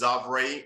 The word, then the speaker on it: Xavrae: me on social media um my name is xavre it's spelled x-a-v-r-a-e last name like purse b-u-r-s-e